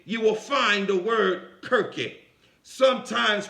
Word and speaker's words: Kirke: There, in its etymology, you will find the word Kirke, sometimes pronounced Circe.